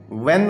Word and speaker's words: when: फिर उसके बाद है व्हेन आता है जी बच्चों, WHEN, व्हेन। तो इसमें देखेंगे आप कि एच हम प्रोनाउंस नहीं करते।